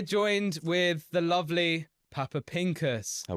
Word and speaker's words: Pincus: with the lovely Papa Pinkus have I said your name right you said it right well done it's actually